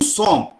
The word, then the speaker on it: sommes: Nous sommes. सोम क्यों बोल रहे हैं? क्योंकि लास्ट लेटर नहीं प्रोनाउंस करेंगे.